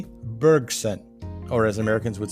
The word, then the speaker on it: Bergson: and nobel laureate and we'll try the french pronunciation here and go with it it's bergson or as americans would say henry bergson now monsieur bergson proposed